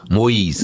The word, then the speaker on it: Moise: Pronounce that last name again? Moise.